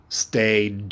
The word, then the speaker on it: stayed: is past tense stayed does that sound like id no it does not does it sound like a t or does it sound like a d it's a d stayed i want to hear